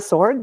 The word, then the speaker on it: Soward: Is it Jenna Soward? Is that how you pronounce her? It's Jenna Sword.